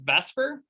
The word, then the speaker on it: VSEPR: repulsion theory this is more commonly known as vesper i know that's not how how it's spelled and what it can